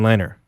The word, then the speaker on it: Lehner: I brought in and I always say his name wrong it's Robin liner liner I'm saying there Lehner